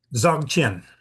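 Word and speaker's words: Dzogchen: Uh Michael, could you pronounce it correctly for me? Zchen.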